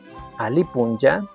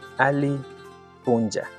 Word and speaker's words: alli puncha: Vamos con las formales, la típica del Alipunja. En la escritura estás viendo ayi alli puncha, pero la pronunciación es ali punja.